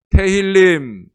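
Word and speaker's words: תהלים: 테힐림.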